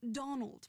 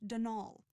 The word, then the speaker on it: Donal: that was the caretaker Donal Delaney not Donald mind you there's no D at the end so it's pronounced denol that's the way you're